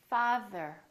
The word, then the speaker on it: father: thank you Thursday Thursday let's try it in the middle of the word father father and the is voiced so there's a vibration on our vocal cords father mother mother all